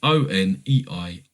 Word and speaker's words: Oneironauts: Oneironauts? It's Oneironauts.